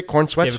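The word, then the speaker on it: Corenswet: Or How do you say Corn Sweet?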